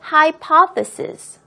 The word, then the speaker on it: hypothesis: 같이 한번 살펴볼게요 자 준비하시고요 보겠습니다 이론이라는 의미는요 hypothesis hypothesis hypothesis라고 읽습니다 red Queen hypothesis 붉은 여왕의 이론이라는 거를